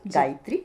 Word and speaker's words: Gaitry: देखो बिल्कुल आप तो अच्छा सुझाव आपने दिए तो मेरा नाम सिर्फ उसमें डालना होगा जो मैं स्पेलिंग लिखती हूं गायत्री वैसे हमारा अंदाज का भी जो चैनल है